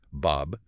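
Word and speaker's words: باب: Like A said that's pronounced Bob.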